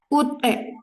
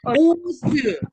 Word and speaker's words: 옷: Ut. 꽃. bukan 우스. bukan 우스 ya. ada yang maunya bacanya 우스. karena di bawahnya ada S-nya kan. jadi ada yang mau bacanya 우스. tapi tidak boleh begitu.